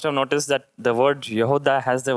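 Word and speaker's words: יהודה: Now when you look at the word Judah in Hebrew, it is Yehuda.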